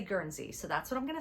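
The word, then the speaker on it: Guernsey: And you'll hear some people pronounce it Ganzy.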